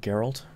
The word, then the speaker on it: Geralt: many more years of people mispronouncing that Geralt his name is Geralt come on food I